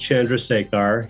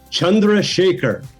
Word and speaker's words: Chandrasekhar: love it you know my name is pronounced chandrasekhar here but in india they call they pronounce it chandra shaker i think i was